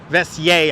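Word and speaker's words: Vesey: we are on vessie a street that people pronounce wildly different I've always heard vessie I haven't heard it people veser I've heard maybe veser a couple of times all right here it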